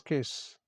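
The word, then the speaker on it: Caius: So pronunciation is KISS.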